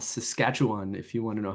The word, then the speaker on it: Saskatchewan: to west uh it's in a province called Saskatchewan if you want to know how that's pronounced I'm in the University of to sketch one okay so I'm going to be talking about